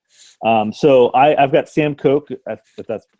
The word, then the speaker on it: Koch: a punter before so I I've got Sam Koch that's how you pronounce his name for the Ravens upon her